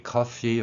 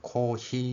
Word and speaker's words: coffee: 일본인들에게는 어 발음이었기 때문에 코히라고 발음을 합니다. F 소리를 히읗으로 하지요. F 소리를 히읗으로 합니다. 그래서 코히 이렇게 발음을 합니다. 한국인들은 대부분 어 발음을 할 수 있기 때문에 커피처럼 발음을 하지요. 그런데 여기서 이제 주목할 부분이 있는데 영어의 F 소리는 우리말 피읍하고는 좀 다른 소리죠. 윗니로 아랫입술을 물고 계속해서 마찰을 일으키는 소리. 이 소리가 영어의 F 소리입니다.